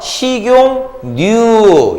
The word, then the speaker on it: 식용유: 발음하세요. 식용유.